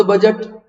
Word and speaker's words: budget: बजट शब्द की उत्पत्ति बेसिकली फ्रांस से हुई। फ्रांस में एक शब्द है बूझे, प्रोनाउंसिएशन उसका बूझे होता है, ये बूझे है, शब्द है बूझे, जिसको हम लोग बजट बोल रहे हैं, ये फ्रेंच लैंग्वेज में बूझे है।